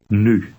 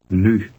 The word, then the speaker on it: nu: Nu. You can pronounce this U. sound by saying a short but with rounded lips. Now read number 1 aloud. Nu.